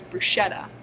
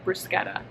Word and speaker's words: bruschetta: this dish is from italy and it's called bruschetta you may have heard of it before pronounced as bruschetta but it's actually bruschetta and i know all of my recipes have